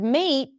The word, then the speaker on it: mate: And then the word mate does not have the a as in cat.